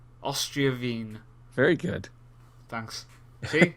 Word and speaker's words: Austria Wien: Austria Wien. Austria Wien.